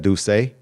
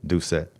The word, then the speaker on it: Doucette: I thought, because I know coming from New Orleans, like we would pronounce that Douce, because it's like, New Orleans like French influence, but got you, my brother. Doucette.